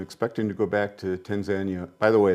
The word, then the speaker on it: Tanzania: By the way, that's how they pronounce it there, Tanzania, not Tanzania. You'll hear me pronounce it both ways. Tanzania? Tanzania, because it was Tanganyika and Zanzibar. When they put it together, they just say Tanzania.